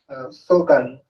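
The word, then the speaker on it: Sogang: In 1992, he went back to Korea and became an assistant professor at Sogan University. Is the pronunciation correct? Yes. Sogan, okay.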